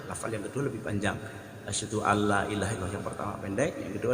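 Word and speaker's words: أشهد أن لا إله إلا الله: Ketika ada seorang muadzin, lafal asyhadu an la-nya itu baca pendek, padahal harus dibaca panjang. Kan asyhadu an la ilaha illallah. Hanya harus jelas. Asyhadu an la ilaha illallah. Mana hanya harus dijelaskan, harus jelas. Pelafalan huruf hanya itu harus jelas. Asyhadu alla panjang, antara la pertama dan la kedua adalah panjang la yang pertama.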